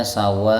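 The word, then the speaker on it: سَوَاءً: Tapi kalau harkatnya fathah tanwin fathah, maka hamzahnya dibaca a, karena setelah hamzah ini sebenarnya ada alif tapi dimahdhuf, dibuang, jamaah rahimakumullah, ya. Jadi bacanya sawaa, okay, satu alif aja.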